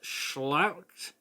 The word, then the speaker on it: Schlacht: Number 9 is, I do believe it's pronounced Schlacht. It's spelled Sclacht, and it's from 2007.